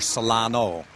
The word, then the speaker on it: Solanus: And so he was given the name of Francis Solanus, or Solano would be another form of pronouncing it.